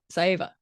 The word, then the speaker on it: Saieva: I'm like, you only can have 2 syllables or two vowels before you have to put a syllable in them.